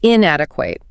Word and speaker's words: inadequate: The pronunciation can trip up learners. It's inadequate. Notice how the stress falls heavily on the second syllable in adequate.